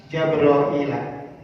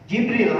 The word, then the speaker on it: Jibril: adnin surga aden daa jabrail jabroil maka e daa memanggil Allah Jabrailah akan malaikat Jibril alaih salam bacanya bisa Jabrail, bisa Jibrail, bisa Jibril, bisa Jabril. Ya boleh. Malaikat Jibrail silakan.